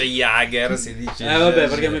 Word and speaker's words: Jaeger: Si dice Jager, si Vabbè, perché a me piace dice Iga, no?